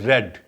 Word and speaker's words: read: for example read read spellings are same but it is pronounced as red like color r e d red it is pronounced like